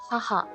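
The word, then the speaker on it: 母: Para hablar de mi mamá, aquí está el kanji, se dice haha.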